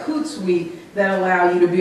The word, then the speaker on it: Hootsuite: well as things like Hootsuite that allow you to be a little more forward-looking and schedule posts out. Yes? Could you spell that word? It sounded like Hootsuite or... Hoot, like an owl, hoot.